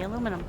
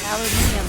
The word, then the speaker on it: aluminium: Oh, hey, aluminum. Yay! Or aluminium, as the UK folks call it.